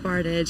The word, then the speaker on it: Bartage: It's pronounced Bartage.